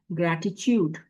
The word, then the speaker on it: gratitude: टा आ रहा है, पहला टी जो आ रहा है उसको तो हम ग्रेटी ही पढ़ेंगे। दूसरे वाले को हम थोड़ा सा चा की साउंड दे देंगे। ग्रेटिट्यूड, ग्रेटिट्यूड increases blessings.